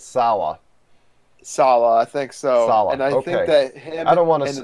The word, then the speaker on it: Saleh: yeah, so they're gonna lose Robert Saleh or Salah or whatever his however you pronounce his last name. I think it's Salah.